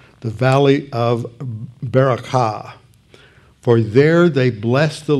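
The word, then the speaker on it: ברכה: called the valley of bracha that's the correct hebrew pronunciation the valley of barakah for there they blessed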